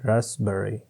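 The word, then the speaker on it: raspberry: रसबेरी, रसबेरी की English भी same ही है रसबेरी, इसमें पी साइलेंट होता है रसबेरी।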